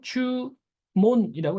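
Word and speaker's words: 注文: 기억해 주시면 좋 같아요 뜻은 주문이고 발음은 주몬이라고 했습니다 자이 문자가 어 바람이 다양하죠 분이라고도 읽잖아요 분 분이라고 읽을 때와 몬이라고 읽을 때를 조금 분해서 기억해 주시는게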